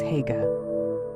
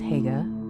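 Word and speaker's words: Haigha: His name is Hega." He pronounced it so as to rhyme with mayor.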